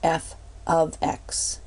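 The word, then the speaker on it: f(x): f * X but it's really pronounced f of x so F and with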